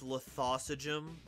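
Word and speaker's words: Lithosagym: what is it uh trying to pronounce true king lithosa gym uh it's lithosa gym come on it's not that difficult folks you're a thought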